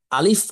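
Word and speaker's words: ألف: শুরু থেকে জোরে সরে ধাক্কা দিয়ে দ্রুততার সহিত আলিফ অক্ষরটি উচ্চারণ করতে হয় আমি আরেকবার বলছি কণ্ঠনালীর শুরু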